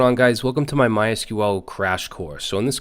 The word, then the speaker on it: MySQL: Let's talk a little bit about what MySQL is, or MySQL. Some people pronounce it MySQL.